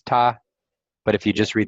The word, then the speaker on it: 她: So this, if you read these two things together, it's ta.